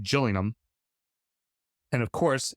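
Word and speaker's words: Gillingham: i n g h a m but it's pronounced Gillum and of course how British is this what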